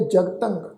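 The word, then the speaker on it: ਜਗਤੰ: कि जगतंग ये शब्द है जगतंग, असल शब्द है जगत, पर तुसीं देखो तत्ते उत्ते टिप्पी की मात्रा वा, नासिक उच्चारण करांगे जगतंग।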